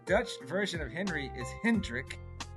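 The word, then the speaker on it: Hendrick: So they said the Dutch version of Henry is Hrik.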